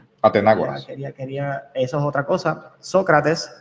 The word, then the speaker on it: Atenágoras: Estoy leyéndolo en inglés porque entiendo que en español tiene acento en la A. So, Atenágoras. Se supone que se diga en español. Así que Atenágoras.